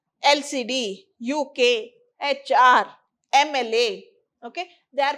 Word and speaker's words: HR: But how is it pronounced here? It is pronounced as HR, A sound.